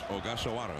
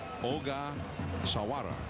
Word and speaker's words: Ogasawara: All right, so here is Ogasawara against the left-hander Ariel Palma. 0-1 the count. Michihiro Ogasawa. Ogasawara. There we go. I left out a syllable, Joe.